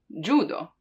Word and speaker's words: judo: So we have J, J, for let's say judo, judo, because that's how it's pronounced in Japanese, right? That's where the word comes from, judo.